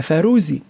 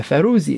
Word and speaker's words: فاروزي: تقول: أصبيعه رقيقة رقيق وخاتمه فاروزي، لباس كات الملف يا ريته زوزي. إيش تقول؟ تقول أصبيعه رقيق وخاتمه فاروزي ولباس فاروزي. وفاروزي هو نطق طرابلسي قديم للفيروز، وهو حجر كريم نجده طبعا في حلي نساء هلبة.